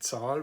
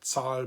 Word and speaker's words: Zahl: derived from the noun die Zahl, which means number, and that is zahlen, which means to pay, and then zählen, which means to count.